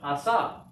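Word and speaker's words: עָשָׂה: So silent, and then on the end. So this is, and the accent's on the last syllable, excuse me. So this is pronounced asa.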